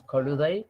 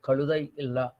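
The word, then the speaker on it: கழுதை: So this is the Sanskrit word, and original Proto-Dravidian is Kaludai. Kaludai the Ra, this Jad with the under dot is actually a lateral pronounced as a palatal consonant.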